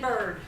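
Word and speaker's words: Byrd: There's a guy named Ian Bird. He is awesome. His last name is spelled B-Y-R-D.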